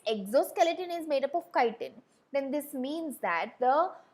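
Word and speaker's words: chitin: Now the name of that exoskeleton it is called as kiten. Now you will not call this as chittin. Okay this is pronounced as kiten. Don't even dare to try calling it as kitten.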